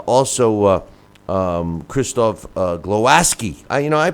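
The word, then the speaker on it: Głowacki: Chris algeri uh also uh um Kristoff uh glowaski I you know I pronounce it glowaki but it's pronounced glowaski uh his uh victory over uh Steve USS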